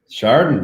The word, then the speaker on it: Chardon: Sandusky and Chardon? Chardon, you got it.